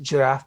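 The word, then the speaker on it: Giraph: graphs uh jf is very interesting so it's pronounced giraffe because without the it's graphite you have new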